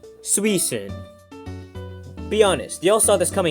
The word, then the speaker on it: Suicune: And by the way, I know it's Suicune, I just wanted to see if I could get someone to comment about that pronunciation.